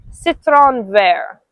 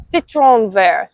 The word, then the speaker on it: citron vert: The word for lime in French is citron vert. No, citron vert. I don't think you roll your r's. Citron vert.